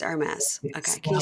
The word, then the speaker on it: Hermès: It's Hermès. It's Hermès. Okay. Can you spell that first thing you said?